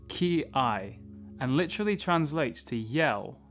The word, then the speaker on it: kiai: start off with some definitions the technique is pronounced key i and literally translates to yell in english and